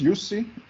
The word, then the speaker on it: Yusi: about you yeah so my name is yusi that's how you pronounce pronounce it so i